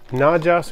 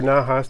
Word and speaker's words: Najas: This is Najas or Najas, depending on how you want to pronounce it, guadalupensis, otherwise known as guppy grass.